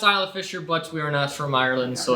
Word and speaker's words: Isla Fisher: happens all of us and that is correct pronounced Isla Fisher Butch weirdness from Ireland so it's okay yeah